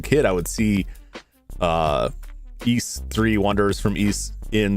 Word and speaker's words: Ys: The pronunciation is east like geese. It's not wise. It's not ease. It's east like geese.